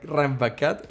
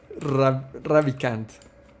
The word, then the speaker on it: Ravikant: I always get it wrong. Naval Ranjit. Rambakat. Let me see. Okay, no, I'm sorry. I need to. Ravikant. Naval Ravikant.